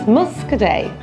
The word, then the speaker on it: Muscadet: The T is silent, so it's not Muscadet, it's Muscadet. Pauillac.